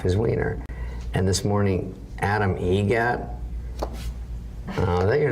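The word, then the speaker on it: Adam Eget: Adam Egget. Egget.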